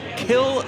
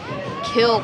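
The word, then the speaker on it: Kiln: This will be her 4th start of the year from Kill, Mississippi. Yes, it's pronounced Kill, Mississippi.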